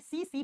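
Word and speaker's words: tsetse: एक मक्खी है और जिस मक्खी का नाम होता है सी फ्लाई। टी से लिखा जाता है लेकिन आप जब प्रोनाउंस करते हो तो टी साइलेंट हो जाता है।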